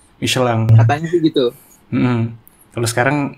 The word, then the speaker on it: Michelin: Ya, pengucapannya gitu tuh katanya, Michelin. Yang benar Michelin.